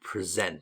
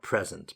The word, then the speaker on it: present: And important here to know it's a verb, so we pronounce it present, not present, present.